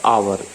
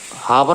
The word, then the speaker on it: hour: Kilometre, ठीक है, पर आवर, हावर मत बोल देना, हावर नहीं होता, आवर होता है, ठीक है, एस साइलेंट है, ठीक है।